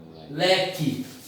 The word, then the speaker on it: leque: Esse QU, ele tem um som de K. E esse E tem um som de I. Fica assim, ó. Leque.